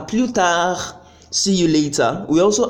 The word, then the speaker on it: plus tard: If you could notice, you see that the last T in à bientôt and the last D in à plus tard, I didn't pronounce them.